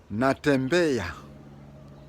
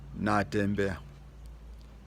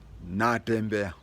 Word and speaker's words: Natembeya: I hear non-Bukusus calling him Natembeya, just like the Swahili word of saying, I'm walking. But the proper pronunciation of his name is Natembeya. Natembeya.